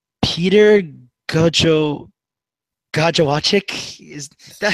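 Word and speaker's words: Gojowczyk: I believe it's Peter Gajowczyk. Is that how you pronounce it?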